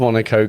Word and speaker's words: Monaco: So, imagine my horror when I read the title on the box as Super Monaco. Super Monaco Grand Pricks.